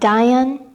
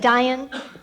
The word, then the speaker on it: Dhyan: I was wondering about Dhyan, and I was just wondering if you see